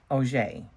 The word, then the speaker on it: Auger: And this is the author, Michael, and it's Auger, I believe. He says it in the beginning. Pronounced Auger.